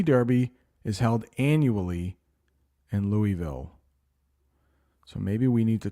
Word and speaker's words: Louisville: is held annually in Louisville that's how you pronounce that City Louisville Louisville Kentucky the Kentucky Derby is the oldest continuously